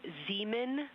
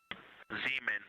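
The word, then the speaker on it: Zeeman: We believe that's Zean Crater. Oh, I floated away from the speaker. Say it again, please. We believe that that is Zean Crater. Zemen.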